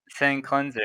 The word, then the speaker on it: Sin Cleanser: How do you say your name? Sinclair or something? Sin Cleanser, yeah.